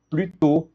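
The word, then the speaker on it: plus tôt: E aqui a gente não pronuncia esse s, tá? Prutô mais cedo, ó.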